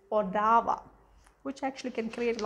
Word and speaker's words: Ottawa: capital of canada um when you read it it's like ottawa but when you pronounce it is odawa which actually can create